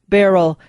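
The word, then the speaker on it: Beryl: institute in washington d.c no not spelled like a barrel of monkeys or a barrel of wine barrel b-e-r-y-l barrel institute the globally recognized thought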